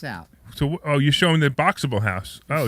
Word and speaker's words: Boxabl: It's Boxable, and it's spelled BOXABL. So Boxable.